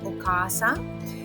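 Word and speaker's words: お母さん: For example, when you say mother in Japanese, it would be okasa. And you might have noticed that I drag that car sound a little bit extra.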